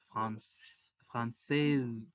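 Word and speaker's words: françaises: Y cuando hablamos del plural es ES, française, française, con ES al final que no se pronuncian, pero eso hace que la S sí suene.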